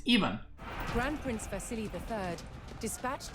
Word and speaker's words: Ivan: do you pronounce pronounce ivan even see that's see that's that's the same thing as my name it's not ivan it's even grand prince vasily iii